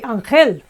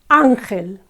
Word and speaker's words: ángel: Again, it ends with a syllable, and we would say, normally, you would expect the Spanish to say ángel, angel, and yet it's ángel, okay?